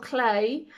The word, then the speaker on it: Klee: It might be that I want to look at mark making, and there I've listed Paul Klee. That's spelled K-L-E-E, who was quoted as saying, "A line is a dot that went for a walk."